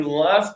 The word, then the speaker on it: left: So, you're gonna close your teeth for that one.